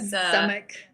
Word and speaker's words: Zamek: Which I'm sure I'm not pronouncing that with the perfect Polish accent, but Zamek. No, it's good. Zamek. It's good. It's Can the you Polish word for castle, and Yeah.